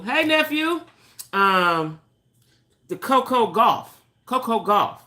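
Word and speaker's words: Gauff: Coco golf I like it ain't golf it's G what is it g u o f f golf Coco golf I just know you pronounce it golf um we got to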